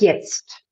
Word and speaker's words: jetzt: Whenever we have some short word in Germany, like jetzt, I make it in slow motion for you. I would sing wie jetzt. I pronounce the etzt, the E-T-Z-T, another time before I jump off.